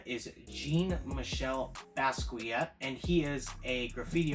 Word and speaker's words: Jean-Michel Basquiat: I have been informed by the internet that the pronunciation of the name is Jean-Michel Basquiat, and he is a graffiti artist who died in the late 80s.